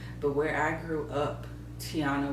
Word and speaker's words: Tiana: where I grew up Tiana was not a common name meaning that people like my teachers teachers used to make it seem like my name was so hard to pronounce I was teenager Tyanna Tanaya even though my name is five letters three syllables so when Princess and